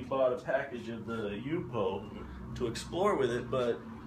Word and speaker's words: Yupo: It's called Yupo, Y-U-P-O.